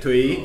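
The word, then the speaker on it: Thúy: Twee. Around Twee. there. It's like Anyway. a rising. Anyway, we were pronouncing it wrong. So for the whole month, we were calling in Vietnamese. We were calling her Stinky. So Yeah. for the whole month, Twee. Twee, like rising tone is her name, falling tone is Stinky.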